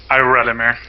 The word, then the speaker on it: Iralimir: How do you pronounce your name? Iralimir or? Iralimir. Iralimir. Okay, cool. Basically the English pronunciation.